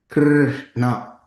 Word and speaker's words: Krishna: Thus, the following syllables are long in the Mahamantra: Hare, long vowel, a, Krishna, short vowel, r, but ensued by two consonants, sh, nya.